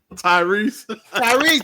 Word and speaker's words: Tyrese: Tyrese.